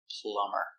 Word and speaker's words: plumber: And that's the reason the B is silent. Plumber.